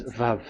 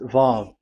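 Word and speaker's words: ו: We called it as Vav. Vav. Your claw, your mouth is like closed. Vav. So it's V as in Vogue.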